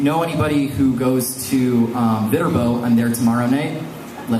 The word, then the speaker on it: Viterbo: And if you know anybody who goes to Viterbo, I'm there tomorrow night. Let them know. And did I say the word, say it wrong? Viterbo. It has turbo in it.